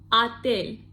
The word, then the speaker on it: отель: Я забронировал отель. Отель. Я забронировал отель. And don't forget the first or we pronounce like a because it is unstressed.